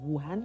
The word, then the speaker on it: Wuhan: they were talking about wuhan is am i saying it right yes china yeah but they know